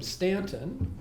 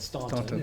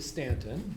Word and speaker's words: Staunton: It was seven miles away from Stanton, which is how you pronounce it if you live there. Even though people who don't know that, call it Staunton. It's really Stanton.